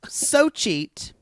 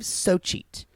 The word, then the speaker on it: Xochitl: So cheat. Which is spelled XO. So Perla. Don't interrupt me. Perla. XOCHITL, which is pronounced, I believe, Socheat.